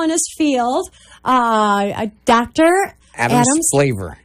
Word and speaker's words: Splaver: Adam Splaver. Splaver. Yep. S-P-L-A-V-E-R. Splaver. Okay. Now, say that one more time, just in case somebody's trying to write this down. Dr. Adam Splaver. S-P-L-A-V-E-R. Rhymes with flavor.